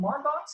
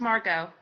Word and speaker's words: Margot: Like I know, is it Margox or is it, how do you pronounce it? It's pronounced Margot.